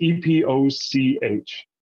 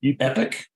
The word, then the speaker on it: epoch: how do you pronounce e-p-o-c-h how do you pronounce it as an American epic epic okay uh Zoran how do you uh pronounce that e-p-o-c-h Epoch epic okay Apple yes all right